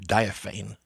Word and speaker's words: diaphane: I've heard it pronounced diaphane. But I'm opting for diaphany, if only for the lyricism.